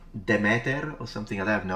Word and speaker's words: Demeter: The modern Greek pronunciation of the ancient Greek name is Dimitir, but in classical Attic it's Demeter.